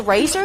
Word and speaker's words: RACER: We say RACER. It's an acronym that stands for Rice Advanced Engineering Systems and Research, so you can say it however you want.